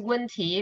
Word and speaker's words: 问题: 问题。没有问题。问题。没有问题。 Yeah, the words 问题 problem 问 this 题。 4 tone and then second tone 问题。